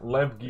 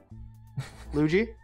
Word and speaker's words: Lev-G: Yeah, Lev-G is absolutely correct. Luigi? Lev-G. Stop saying his name. Stop saying his name wrong on purpose.